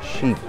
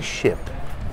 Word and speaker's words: sheep: Sheep. Sheep. Olha a pronúncia disso. Sheep. Não é ship. Sheep é ovelha. Sheep. She-e. I-i. Como se fosse o i mesmo em português.